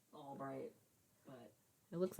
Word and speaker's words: Ulbricht: Yeah, it's like Albright, but It looks like it's rich.